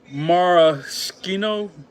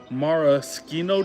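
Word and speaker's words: maraschino: Marchino. M A R A S C H I N O. Marcho.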